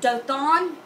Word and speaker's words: Dothan: This word two wells is pronounced Dothan.